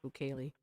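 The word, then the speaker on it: Bukele: He's pretty much a he's pretty much a fascist and his the name is is pronounced bouquet.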